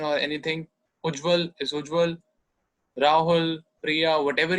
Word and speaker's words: Ujjwal: Suppose I need to introduce myself somewhere and I say, Ich heiße Ujjwal. My name is Ujjwal. And the other person asks me, can you spell it?